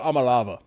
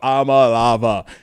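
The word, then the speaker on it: Iamaleava: Niko Amalava. That's how you say his name. Nico Amalava.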